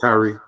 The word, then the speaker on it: Tyree: You said it right, Tyree. Tyree, I did say it right?